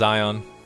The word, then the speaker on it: Aion: right this time guys it's pronounced ion ion has led you